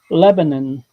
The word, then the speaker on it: Lebanon: No, Lebanon. Two syllables. It's not Lebanon. It's not Lebanon. It's Lebanon.